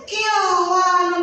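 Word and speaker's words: قنوان: ini di dalam Al-Qur'an, maka dibacanya harus jelas. Jadi tidak didengungkan ya anak-anak. Coba ikuti ibu jar membacanya. Inwalun. Inwanun. Nah, jadi tidak digunungkan ya. Qwanun atau salah.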